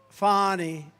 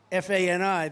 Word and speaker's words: Fani: It's pronounced Fani, F-A-N-I, that's Fanny. But she likes it Fani.